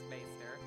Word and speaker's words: maester: lady maester like treasure it's just pronounced master it's just their fancy